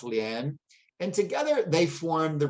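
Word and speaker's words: 莲: In Chinese, one egret is pronounced ilu with lotuses pronounced lian, and together they form the rebus ilu lian ke, which is a reference to success in the civil service examinations.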